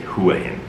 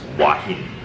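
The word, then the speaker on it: Hua Hin: and then h-i-n and people say hua in it's not the age is silent so it's it's wahine anyway i'm like where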